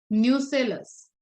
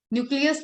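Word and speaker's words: nucellus: Microsporogenesis में nutrition provide कर रहा था टैपेटम, यहाँ पे न्यूट्रिशन प्रोवाइड करेगा न्यूसेलस। ओके, न्यूक्लियस नहीं है, न्यूसेलस है, ध्यान से देखना स्पेलिंग को।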